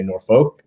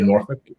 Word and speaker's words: Norfolk: I say Norfolk. It's kind of just straight through. Some people do say Norfolk, and other people really do pronounce it phonetically and say Norfolk. I would just say Norfolk, to keep it quick and short and dirty.